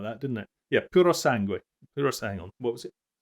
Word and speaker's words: Puro Sangue: Oh, yeah, that funny woman who pronounces everything weird. Puro Sangue.